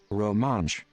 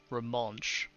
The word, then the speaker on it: Romansh: Romanish. Okay. Pronounce. So the pronunciation is this? Romansh. Romansh. Romansh.